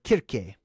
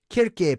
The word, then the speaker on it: Kirke: So Circe, okay, or Kirke. Kirke, pronounced Kirk, or Kirke. So Kirk, just like Captain Kirk, right?